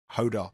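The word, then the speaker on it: Jódar: who will relish the conditions, but he's got Ordar, isn't it, in the first round, the young Spanish player, who I can never pronounce. How do we pronounce it again? Hodar.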